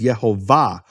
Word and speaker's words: Yehovah: the of the word the emphasis of the word is in the final syllable it's marked that way